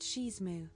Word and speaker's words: Shezmu: His name is pronounced Shismu.